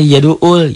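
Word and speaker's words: يَدُعُّ: sudah jadi Ustaz Ustazah bacanya yaduul yaduul bukan Hamzah di situ bukan Alif Ain Kenapa Alif Hamzah dicetakanucakan Alif teh ditulisnya Hamzah gitu ya coba aja nanti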